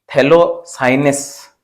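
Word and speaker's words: phthalocyanine: और इसमें और क्वेश्चन पूछा जाता है, तो name of to organic semiconductor पूछा जाए तो एंथ्रासिन या थैलोसाइनस, यहाँ पे पी साइलेंट है।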